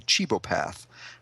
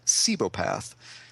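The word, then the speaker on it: cibopath: And up until I looked this up today, I was pronouncing what he is as a chibopath. But when I looked it up today, I guess Wikipedia told me it's pronounced cebopath.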